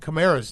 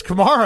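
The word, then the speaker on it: Kamara: I can't I can't say Alvin Chimera's name. Is it not Chimera? It's Kamar.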